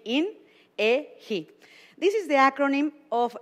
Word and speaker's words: INEGI: First, also we have to understand how to pronounce it correctly. So how you say it in English will be INEGI.